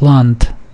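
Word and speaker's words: לאַנד: land but it's pronounced land there's a t sound on the end it's not a D sound montic L Professor no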